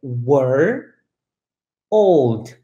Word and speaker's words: world: Então, você vai particionar ela em duas partes. Então, é were, old, were, old, were, old.